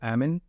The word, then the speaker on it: Amen: the admin clinics from Daniel Amin or amen depending on how you want to pronounce it and the Mayo Clinic